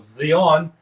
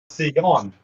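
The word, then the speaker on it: ציון: So Zion or Zion is actually Sion.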